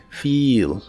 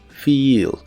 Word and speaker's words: feel: El verbo sentir o sentirse en inglés es feel, se pronuncia con la i larga o doble, feel, feel, y se usa en ideas como he feels sick today.